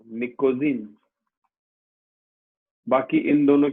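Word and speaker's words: pnictogen: P silent होता है इसमें, निकोजीन।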